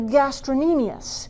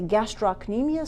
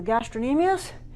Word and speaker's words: gastrocnemius: calf is called the gastrin aeneas spell the gastrocnemius there's a C in it but let's see is not pronounced some people will say gastrocnemius so that they remember how to spell it but that is the